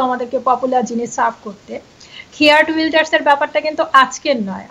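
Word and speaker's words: Geert Wilders: আপনি ইংরেজিতে বলছেন খেয়ার্ড উইল্ডার্স, আমি ডাচে বলি। আপনি কি বলেন? আপনি আপনার ইয়েটা কি ছিল? আমি আমরা বলি গ্রিট উইল্ডার্স, বাট আচ্ছা, এটা ইংরেজি উচ্চারণ।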